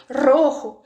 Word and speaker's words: rojo: Se você não está conseguindo falar esse R, sempre sai o R do português, vamos pegar uma palavra como rojo, o vermelho. E aí você pega, coloca no comando de voz ali no Google Tradutor e fala a palavra. Se tá saindo rojo ou qualquer outra coisa com outro som sem ser rojo, o tradutor não vai